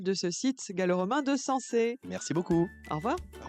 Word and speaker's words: Sanxay: Parfait parce qu'on dit sans depuis le début de cette émission mais effectivement ça s'écrit s a n x a. Merci beaucoup Martin Durquetti, responsable opérationnel de ce site galoromain de sensé.